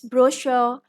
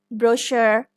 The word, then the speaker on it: brochure: chateau brochure or brochure we do not pronounce the r in British pronunciation it's brochure and this is brochure in American English in